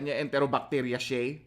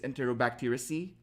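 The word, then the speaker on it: Enterobacteriaceae: enterobacteria organisms enterobacteracy okay enterobacteria all right but the correct pronunciation is enterobacteracy okay so who here remembers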